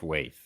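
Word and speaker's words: waeth: stead card huh weird it's pronounced wave wave w-a-e-t-h that's what I said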